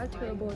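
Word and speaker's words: turbot: ปลา เบอ เบอ ว่า เทอร์โบ ที่ มัน ไม่ ออก เสียง ตัว ที ซึ่ง ปลา นี้ เขา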